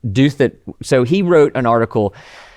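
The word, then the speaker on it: Douthat: States and uh Ross I always want to say do that that's not how you pronounce his name doth that so he wrote an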